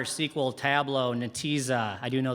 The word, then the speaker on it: Netezza: R, SQL, Tableau, Netezza. I do know that it's pronounced Netezza, so points for me.